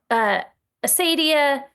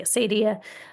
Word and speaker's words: acedia: So Acedia, Acadia, people have pronounced this different ways. I'm going to say Acedia.